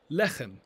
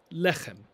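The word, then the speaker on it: לחם: The word for bread is lechem, lechem. Make sure you get that extra throat-clearing sound there.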